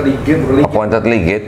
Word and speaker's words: legate: Itu bacanya bukan ligate kok. Hah? Bukan ligate bacanya. Mana? Bukan ligate, itu bukan ligate itu. Appointed ligate, bukan ligate. Appointed legate? Bukan ligate itu bacanya. Legate. Oh, legate.